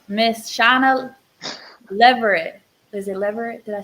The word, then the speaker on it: Leverette: Is it Leverette?